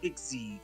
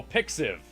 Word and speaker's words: pixiv: the first one is about pixie is how you say it pix id oh pixiv yeah pixel vs okay pixiv so there's